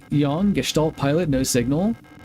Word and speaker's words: Gestalt: Yeah, Gestalt is just German. I think I'm actually pronouncing it correctly. It's not Gestalt, it's Gestalt, correct?